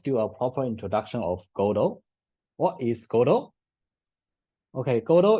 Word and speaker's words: Godot: But yeah, actually this name is a French name. So it comes from the French name Godeau or something, right? And then some people change it to Godot, Godot, where the T is silent in this play.